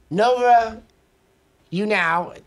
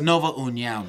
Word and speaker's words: Nova União: Mark Henry's own Marlon Moraes versus Brazil's own Nova Unao. Did I say it right? It's Nova União, man.